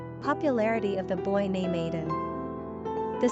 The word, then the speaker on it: Aedan: Pronunciation, Aidan.